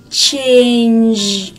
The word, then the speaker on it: change: Từ change, các bạn nhớ này, có phụ âm ch đứng ở đầu này, change. Và chúng ta có một phụ âm đứng ở cuối là âm change. Các bạn thấy không? Để phát âm được đúng từ này thì các bạn nhớ phải chu môi lên nhá.